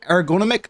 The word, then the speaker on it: Aargonomic: my friend aaron or ergonomic that's how you pronounce it uh ergonomic or wait